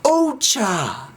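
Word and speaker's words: お茶: say tea you say Ocha Ocha it's a polite o cuz it's really cha that's what T is it's CH but we say OA just like oan and O toan we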